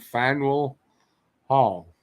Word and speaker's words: Faneuil Hall: it hockey it too okay how do you pronounce that it andrew says it took him forever to find fine wool hall yeah you got it let's fade your heart